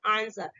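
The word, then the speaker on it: answer: देखिए यहाँ पे एस दिया गया ना, तो एस क्या है, डब्ल्यू है ना, तो डब्ल्यू क्या है आपका साइलेंट है, और इसको हम क्या पढ़ेंगे, आंसर।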